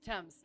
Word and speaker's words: Thames: name of the River Thames okay sounds good thank you I shall try to remember I used to say Thames and then I did I heard that it was just the tea and then yes River